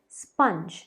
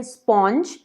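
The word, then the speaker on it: sponge: अगला वर्ड है स्पंज, स्पंज। अब कई लोग इसे कहते हैं स्पॉन्ज, पर प्लीज़ इसे स्पॉन्ज मत कहिए, ये है स्पंज, स्पंज।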